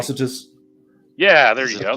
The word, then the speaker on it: Atrocitus: Like atrocious or something like that. Right? Atrocitus.